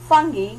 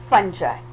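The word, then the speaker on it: fungi: auto sky example a kingdom funghi yeah a kingdom funshine okay both the pronunciations are right Joe Bouchard - gilja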